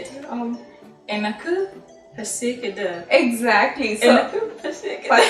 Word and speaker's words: எனக்கு: Um, Enaku pasikida. exactly. So Enaku pasikida. yeah. So எனக்கு is for me. Mhm. Okay, for me. So it's எனக்கு Mhm. பசிக்குது. Enaku pasikida.